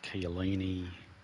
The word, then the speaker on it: Chiellini: That's how you pronounce it. Chiellini.